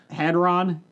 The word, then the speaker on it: Hadron: Hadron Collider. Hadron Collider. Hadron How can you Collider. not pronounce the word Hadrian collider?